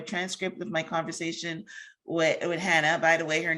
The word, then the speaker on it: Chana: of my conversation with hannah by the way her name is spelled c-h-a-n-a-m for anyone that's listening the c is silent um yes but i'll